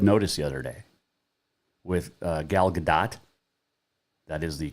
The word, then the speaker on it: Gal Gadot: i watched red notice the other day with gal gadot that is the correct pronunciation by the way um ryan reynolds the